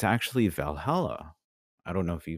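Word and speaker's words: VA-11 HALL-A: it's basically it's it's it's spelled va-11 ha-11 so valhalla valhallas it's basically a cyberpunk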